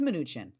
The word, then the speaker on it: Mnuchin: neither kushner or new i always say his name wrong how do you say it mark it is mnuchin i kind of said it right i responded